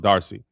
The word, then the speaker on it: D'Arcy: You you might as well go ahead and hand Emma Emma Is it Darcy? Okay, so the apostrophe is just there like how black people like apostrophes. It's just pronounced Darcy.